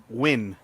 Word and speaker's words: Nguyen: Win. You pronounce that win. Whatever. We're in America. We pronounce it Nguyen.